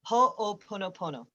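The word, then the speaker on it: Hoʻoponopono: way that you would have us say it is spelled h o and then o pono pono ho o pono pono this is a hawaiian technique from dr e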